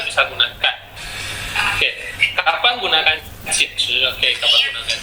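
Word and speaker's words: 简直: Lalu yang kedua, titik merah yang kedua, ini bacanya 简直. 简直 itu pinginnya J-I-A-N, ada 3, 简. Lalu 直 Z-H-I ada 1, 简直.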